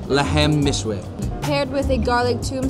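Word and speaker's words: Lahm Mishwi: The name of this dish is Lebne Mishwe. Are you saying it right? Lebne. Lahemne. Lahem Mishwe. All right, the name of the dish, Lahem Mishwe.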